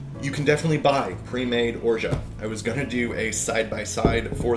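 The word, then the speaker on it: orgeat: name o-r-g-e-a-t um um I go with orja I believe that is roughly correct it's actually comes from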